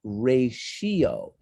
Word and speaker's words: ratio: say the word ratio ratio it's a very hard word because the t is not pronounced like a t it's not pronounced ratio it's pronounced ray shio almost as if the